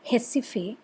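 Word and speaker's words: Recife: jessife r e c i f e it's pronounced hessife in portuguese which is a place in pernambuco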